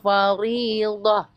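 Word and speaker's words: فَرِيضَة: malam tamassuhunna au tafridu lahunna faridah. Faridah. Huruf ro itu kalau kasroh ri bacanya. Ri, jangan ri, jangan dipersulit. Ri. Lahunna faridah. Itu Pak Ustaz. Faridah. Huruf do, sisi lidah.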